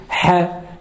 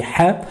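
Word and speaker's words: ح: Alors, cette lettre, il faut pas la rendre emphatique, c'est une lettre qui est amincie, donc on dit ha, et on dit pas ha.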